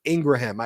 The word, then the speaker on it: Ingraham: where Laura Ingraham, and by the way, it's pronounced Ingraham. Someone called me today and they were like, it's Ingram, Ben.